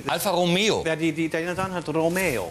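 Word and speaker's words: Alfa Romeo: Ja, mit Betonung auf E. Alpha Romeo.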